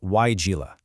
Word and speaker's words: Weigela: It's pronounced Weigela, and it's a fantastic deciduous shrub belonging to the honeysuckle family.